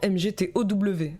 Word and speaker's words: MGTOW: Il se filme en train de découvrir sur Wikipédia le mouvement MGTOW, prononcé MGTO.